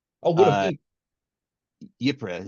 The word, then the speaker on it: Ypres: Ypres is how I was told to pronounce it.